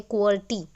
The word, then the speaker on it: QWERTY: Keys हैं ये QWERTY, अगर हम इसको रीड करें एक तरीके से तो एक वर्ड की स्पेलिंग जैसी भी नज़र आती है, क्वर्टी। So that's why we call it एज क्वेटी keyboard also. तो जो फर्स्ट 6 रोज